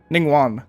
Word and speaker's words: Ningguang: uh what's her name ning one that's how it's pronounced uh when normal attacks